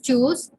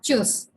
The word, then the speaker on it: tschüss: It is tschüss. The T is silent.